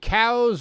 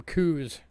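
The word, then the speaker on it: Coues: these in arizona but that word there the c-o-u-s that's actually pronounced cows like a cow like a beef cow found out recently there was a natgeo special about these and the people from that geo couldn't pronounce it right they kept calling them coos coo's white deer they're not coos they're cows can you take us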